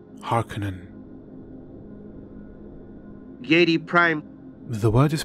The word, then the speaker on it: Harkonnen: a common miss pronunciation of this word is har conan but it is pronounced Harkonnen Harkonnen Harkonnen dat prime the word is pronounced as it